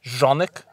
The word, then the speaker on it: Canik: is in my mind unmatched truthfully and it's pronounced jeanik but is it really yeah yeah it's eastern block oh okay yeah I I call it cannock can a gun store this dude was like